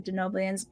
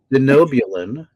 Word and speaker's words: Denobulan: So you were just First off, I'm going to have to correct your pronunciation. Let's go back to I'm so sorry. Denobulan. Denoblian. This is my favorite thing to do. Denobulans. Very good.